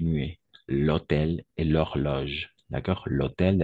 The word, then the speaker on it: hôtel: Pourquoi? Parce qu'il y a le H muet. Et de la même façon, ici, on va faire la liaison. D'accord? Même avec le H muet, parce que le H est muet.